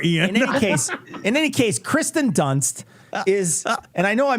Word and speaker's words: Dunst: in any case, Kristen Dunst is, and I know I mispronounced it, and I wanted to. I Kristen- did it on It's purpose. Kristen Durst.